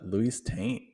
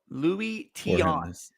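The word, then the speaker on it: Tiant: I'm kind of surprised Formidable's last ranked in pitching with Luis Taint having pitched so well. Louis Tion.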